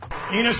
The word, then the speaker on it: Enos: Enos rhymes with Venus.